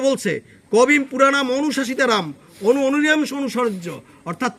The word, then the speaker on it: কবিম: কবিং, কবিম উচ্চারণটা কবিম।